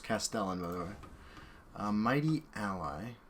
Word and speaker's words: Castellan: I've been informed that that card is pronounced Castellan, by the way.